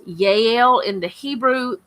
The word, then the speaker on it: Jael: Jael, but it's pronounced Jael in the Hebrew. J's sound like Y's.